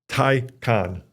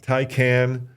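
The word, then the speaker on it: Taycan: of the Porsche models tyon not tyan tyon yeah well hold on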